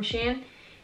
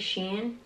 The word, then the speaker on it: Shein: that I bought from Shan I think that's how you pronounce pronounce it Sheen Shane Shane Shane I believe is Shane and so this is like